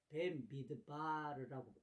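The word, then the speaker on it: במדבר: 원래 구약 히브리 성경의 네 번째 모세오경에 속한 이 민수기의 원래 발음은 조금 전에도 설명했듯이 벤미드바르라고 읽습니다.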